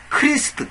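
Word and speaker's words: Christ: 영어적인 그 의미로 발음이 크라이스트 된다고 해서 잘못된게 아닙니다 그입니다 원래는 지금 요즘에 크라이스트지만 원래는 이거 저저 크리스입니다 원래 발음은 그 킹제임스 성경 당시의 발음은 뭐냐면 크리스트 크리스트 그 요즘도 그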